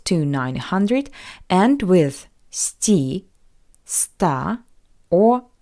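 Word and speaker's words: сто: numbers from 200 to 900 end with st St or S all these endings are variations of the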